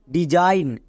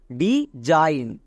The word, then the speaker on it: design: একই রকমভাবে DESIGN ডিজাইন, এখানেও দেখো এস আছে, এস এর দুপাশে দুটো ভাওয়েল আছে, তার মানে এস এর জন্য বর্গীয় জো উচ্চারণ হবে, তাহলে এস এর জন্য বর্গীয় জো। IGN এর জন্য কি হয়? আইন। এবার পুরোটাকে একসঙ্গে উচ্চারণ করো, ডিজাইন।